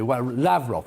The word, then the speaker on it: Lavrov: with mr ra lavrov now i'm pronouncing the russian way lavrov wavrock oh sorry he